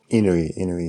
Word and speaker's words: Inui: Is that how you pronounce his name? Inui, yeah.